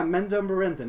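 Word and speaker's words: Menzoberranzan: I might be pronouncing it wrong. Let me double check. Oh, yeah, Menzo Berenzin.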